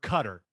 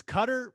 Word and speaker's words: Qatar: ago i was told it's cutter but i feel like on espn they keep saying qatar so i i don't know what to do i'm going to go with qatar just because i mean it's spelled with a q n a so what what are we calling it what's the i call it qatar okay let's go with that i think maybe it's supposed to be cut but i sound like